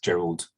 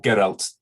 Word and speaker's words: Geralt: And Effie, starting the engine and mustn't talk to Gerald, or Geralt, as we should now be pronouncing this.